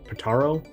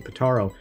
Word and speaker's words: Pitaro: obviously he was replaced by Jimmy uh patano pataro I think I don't want to get his name wrong Jimmy pitaro um who was elevated to the chief role